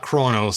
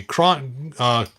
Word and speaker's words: Cronus: And then I have the let's see, not Kronos. Someone corrected me. Cronus. There we go. Someone said it's not Kronos. That's the Titan. This is Cronus. There we go.